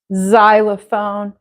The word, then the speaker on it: xylophone: it like s z it sounds like a z z xylophone there aren't very many